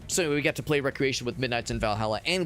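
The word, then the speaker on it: Wreckreation: Uh really well spelled like recreation like wreck like W R E C Recreation.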